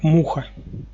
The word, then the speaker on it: Муха: Нет, насколько я помню, здесь, когда я выполнял задание с мухой, связан то ударение ставился на первый слог. Именно муха.